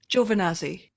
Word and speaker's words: Giovannazzi: just walking around going giovannazi giovannazi how can i say that weird but still right geo finazzi sometimes i do have to um pronounce the geo very on purpose for people to understand yeah but we've been